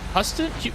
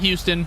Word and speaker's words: Houston: Is it Huston? It's not. Oh my god. Is it Houston?